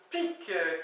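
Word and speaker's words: pig: trouvé quoi d'autre aussi pque qui se qui s'écrit P g mais qui se prononce P K qui veut dire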